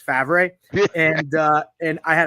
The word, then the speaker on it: Favre: when I got it, my dad thought the they spelled their name wrong because it's Favre.